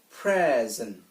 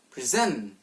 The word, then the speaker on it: present: of a two-syllable noun so it goes present present which means write this moment or a gift and here's a two syllable verb which which we'll pronounce present where the stress is applied at the second